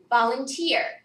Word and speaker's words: volunteer: We would pronounce everything in that column with the same pattern of stress. So which syllable got stressed? Tier. So which number syllable? Third. The third syllable.